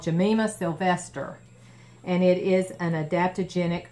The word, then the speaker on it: Gymnema sylvestre: I'll show it to you here it's it's pronounced Jemima Sylvester but this is the bottle and I saw dr.